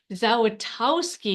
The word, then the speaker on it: Zawistowski: Yeah, the S is in the middle, so you already missed that. It's Zawistowski, but yeah, that's close Say enough. it, your last name? Zawistowski. Zawistowski. I'm sorry, I said it wrong. No, Well, let you're me tell fine. you. It's phonetic.